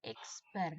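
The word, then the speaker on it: X̄: Lambangnya adalah X. Diberi tanda strip di atasnya. Ini adalah bacanya X bar ya.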